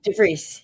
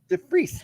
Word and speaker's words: DeVries: DeVries. Yep. Oh, that's pretty close. DeVries. You're close. Yeah. DeVries with Emily's Cleaning in Utica, New York.